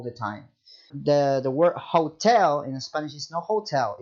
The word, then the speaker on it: hotel: much silent all the time the the word hotel in Spanish is no hotel is Hotel like